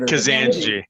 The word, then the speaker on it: Kazanjy: Kazanjy. Kazanjy. Yeah, just like the what do we say? Pronounce it like a Southern Californian, as flat as possible.